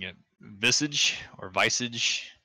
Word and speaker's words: Visage: Visage or Visage. It's not Visage, it's Visage. Visage has massage.